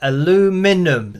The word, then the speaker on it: aluminum: I can see everyone saying aluminum so uh aluminum so that's what people say over in the